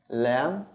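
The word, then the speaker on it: ل: The next one is lam, lam, like the L in English.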